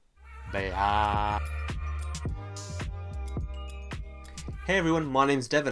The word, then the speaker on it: Beit: So how is it really pronounced? Bite? Bait? Bay.